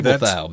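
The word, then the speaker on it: Babeldaob: Yeah, that's not exactly how it's spelled. It's not phonetically correct at all, yeah. The writer of this article has actually been there, so she knows how to pronounce these words, and that's that island there, Babelthaup.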